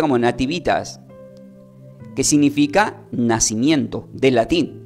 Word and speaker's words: Nativitas: el hebreo O sea desde el latín se pronuncia como Nativitas alg dice Natividad pero se pronuncia como Nativitas que significa nacimiento del latín del hebreo se